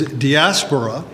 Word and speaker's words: diaspora: my cup of coffee and honor the actual pronunciation of the word was diaspora and he got it and the thing is it's a compound word DIA spora and the word literally meant from or through